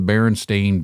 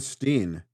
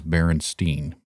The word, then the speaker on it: Berenstain: I kept saying Steen. Steen, ST. Yes. Well, it's spelled Stain, Berenstain, but everyone has referred to them as Berenstain.